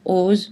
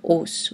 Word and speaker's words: os: Le S final ne se prononce pas dans le mot os au pluriel, par exemple des os, mais un os.